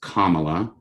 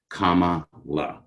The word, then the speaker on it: Kamala: and his running mate kamala harris i mean just as a point of reference it's pronounced kamala like the comma with allah it really irks me